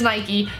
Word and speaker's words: Nike: products if you try to say that it's pronounced naik by the way you are completely wrong it's an American company its Nike but anyway I wear Nike products love it